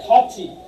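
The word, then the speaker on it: 같이: যে দেখেন আমি কিছুক্ষণ আগে লিখছিলাম, যেমন এটাই কি হবে খাচ্ছি, কেন বলছি যে এটা থেকে থিউদ বাচিমের পরে যদি ইয়ং বসে তাহলে থয়ের উচ্চারণ কিসের মতো হবে, থয়ের উচ্চারণ ছয়ের মতো।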